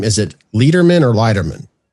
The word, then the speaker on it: Leiderman: Now, I want to want to In all honesty, Matt, is it Is your last name is it Leatherman or Lightman? Leatherman.